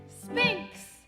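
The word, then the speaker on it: sphinx: Spinks. Huh? Spinks. Oh, no, spink. No, you spell it with an X.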